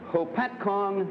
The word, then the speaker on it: Hopatcong: Frank Smith, a salesman and repairman from Lake Hopatcong, New Jersey.